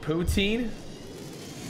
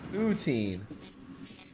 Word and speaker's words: poutine: to the League what poutine why do you say it like that poutine there a u there's not two o's Resurgence stay alive to